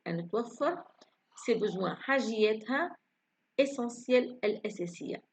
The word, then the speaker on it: essentiel: أن توفر ses besoins حاجياتها essentiel الأساسية. لاحظ هنا كلمة essentiel على حرف الت هنا لكن نطقناه صوت س.